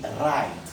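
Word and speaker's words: write: Donc WR en début de mot se prononce RE. Exemple, on dit right et non right.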